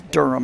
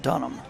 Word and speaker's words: Durham: Caleb Durham go Arkansas so it is Durham and not done them he does say in